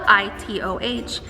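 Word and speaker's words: Itoh: it is called an ito peony it is spelled i-t-o-h but it is pronounced ito it is a hybrid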